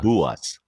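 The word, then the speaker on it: Bułas: So the L with like a little slash through it is almost like a W sound. So it's buas buas. That is buas.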